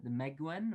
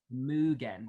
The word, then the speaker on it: Mugen: potentially run it through is it the Meguen or the Mugen? Mugen. Thanks, Luca, for my shoddy pronunciation.